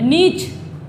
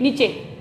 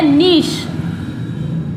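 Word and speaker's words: niche: लेकिन ये नीचे नहीं होता है, इसको जो है हम अमेरिकन इंग्लिश में बोलते हैं निच। निच। और ब्रिटिश इंग्लिश में इसको बोला जाता है नीश। क्या बोलते हैं इसको? नीश। अमेरिकन में बोला जाएगा इसको निच, और ब्रिटिश इंग्लिश में इसको बोलते हैं नीश।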